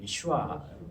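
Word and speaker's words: יְהוֹשֻׁעַ: 여호수아가 이제 우리가 한글로 쓸 때 여호수아지 이제 정확히 발음은 예슈아 이렇게 하거든요.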